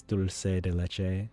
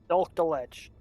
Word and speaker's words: dulce de leche: And the actual dessert is pronounced what? Dulce de leche? Yeah, it's dulce de leche, which, as for the longest time I thought it was pronounced dulce de leche, kind of like dulce.